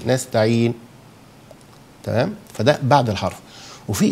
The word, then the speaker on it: نستعين: نستعين، أو إيه نستعين، بعد ما سكن النون أنطق أضم الشفتين نستعين، تمام.